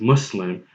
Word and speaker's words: Muslim: And trust me, this Arabic word Muslim is easy to pronounce correctly because the sound required to pronounce the word Muslim as Muslim actually exists in English.